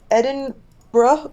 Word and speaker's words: Edinburgh: microphone and yeah I I'm in Edinburgh which is apparently how you're supposed to pronounce it what are you doing